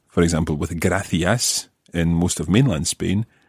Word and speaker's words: gracias: For example, with gracias in most of mainland Spain and gracias in Canarias. So, for example, exactly the same as in most parts of Latin America, you would say gracias and not gracias.